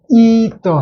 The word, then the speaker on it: ether: 그러면 이더 해서 발음이 이더 세모를 시키고, 어떤 경우는 테더 할 때는 이게 요것을 두죠.